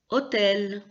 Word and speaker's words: hôtel: on dit guay h h c'est une lettre qu'on ne prononce pas d'habitude en français donc on dit simplement hôtel on ne prononce pas le h y comme d'en finir